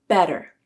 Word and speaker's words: better: Better used a flap. Better.